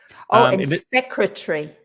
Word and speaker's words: secretary: same as comfortable secretary so three syllables and stress the first syllable secretary although these days